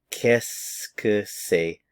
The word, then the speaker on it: qu'est-ce que c'est: So a lot of these words run together when you actually pronounce them.